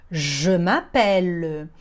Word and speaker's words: je m'appelle: Então esse je, o e, que tem a vogal e, ele é mais fechadinho. A gente não vai dizer G. Fechem a boquinha.